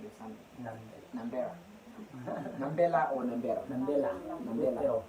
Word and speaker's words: Nambela: I'm always mispronouncing the son. Nambela.